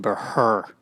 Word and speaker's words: Buhrr: H is silent, of course, as it was pronounced by the Spaniards back where the original Burrs were from. That's not true, actually. The Spaniards pronounced it Buhrr, but fell out of